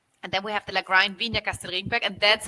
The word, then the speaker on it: Lagrein: See, we go back to the German pronunciation, right? The Italians would say Lagrein because that's how it's spelled, but it's actually Lagrein, and it's a Germanic name.